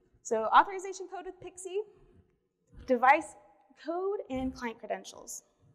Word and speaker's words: PKCE: for code exchange and it's often pronounced pixie so authorization code with pixie device code and client